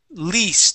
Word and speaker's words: least: Let's go to the word least. This is a long E sound, least.